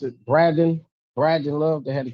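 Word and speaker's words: Bradon: Oh, and and and what they have my name wrong is uh Brad. How do they pronounce it? Braden.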